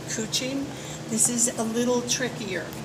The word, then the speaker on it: couching: it to not exactly it's called Kuching but it's spelled couching and I call up